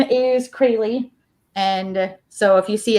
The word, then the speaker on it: Crayle: psychic twins right um well my name is crayley and so if you see it spelled down there and pronounce it the way it looks like it